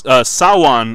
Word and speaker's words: Samhain: an interesting way to Sawan is the pronunciation of Samhain you know it's written Samhain you're supposed to call it one so I didn't hear